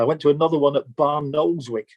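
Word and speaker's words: Barnoldswick: to another one that bar knows which locally pronounced as barwick and there were more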